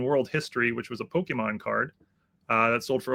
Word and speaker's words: Pokémon: Do you pronounce the E? Is it Pokemon? Pokemon. What is it? Pokemon.